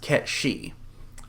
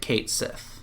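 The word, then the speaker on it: Cait Sith: And yes, I am aware in the old Celtic it's pronounced Ket-She. I'm going to pronounce it Kate Sith.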